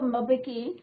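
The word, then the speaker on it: Mbeki: Then थैबो बेकी, am silent रहेगा, sorry.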